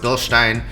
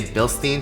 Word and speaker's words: Bilstein: yes it is pronounced Bill Stein I know in the US we say Bilstein because hashtag America but this is a German company it's actually pronounced Bilstein and if you don't